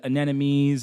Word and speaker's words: anemones: How there's like beautiful fish, there's like clownfish, and there's anemones, and right, that's how you say it, right?